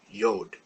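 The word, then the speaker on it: יוד: letter is the letter yod this is the smallest letter it's always smaller than every other letter and it's pronounced y or an i and it can sometimes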